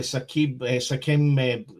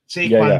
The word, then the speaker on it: Saquon: I mean, you could say obviously Sakim, always Barkley. Saquon Barkley. I always get his name wrong.